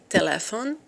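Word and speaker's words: telefon: English directly computer telephone you should notice that we put the accent here on the second syllable and not on the first one like in English telephone and we say telephone to me in a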